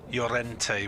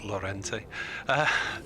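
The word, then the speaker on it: Llorente: up welsh language pronunciations the spanish double l young yes swansea said he had uh yorente which took me about a year to realize wasn't laurenti 83 for one ball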